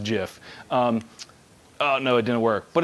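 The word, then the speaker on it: GIF: we still believe this was a jiff it's pronounced jiff by the way I met the creator of the file format and it's pronounced jiff no it didn't work but it's a money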